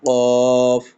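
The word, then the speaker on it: قاف: আর কফটাও ঠিক একই জায়গা থেকে, কফ, কফ, এভাবে উচ্চারণটা হবে।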